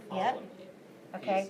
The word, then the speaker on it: Ptolemy: Starts with the letter P, but the P is silent.